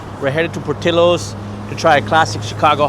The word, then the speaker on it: Portillo's: So, we're headed to Portillos, that's the right pronunciation. We're headed to Portillos to try a classic Chicago hot dog.